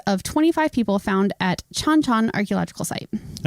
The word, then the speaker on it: Chan Chan: 25 people found at chanchan archaeological site and it's chanchan not chanchan I okay so I